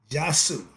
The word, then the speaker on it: Djaasu: about mastering your assar aspect is be coming jasu is spelled DJ a a s u it means